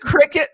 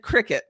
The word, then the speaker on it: Cricut: It's called the Cricut machine. It's spelled Crick, but it said Cricut. It's spelled Cricut, but it's called Cricut.